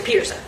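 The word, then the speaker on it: Pederson: So, it's Peterson Peterson.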